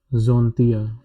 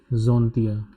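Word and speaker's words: Antilles: Les Zontia. Because of the liaison rule, S will get connected with this A. Les Zontia.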